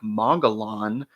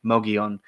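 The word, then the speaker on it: Mogollon: know it looks like mongan but please for the love of God understand that in the southwest if you see a Double L it's probably pronounced like a y Mion um yeah sorry I've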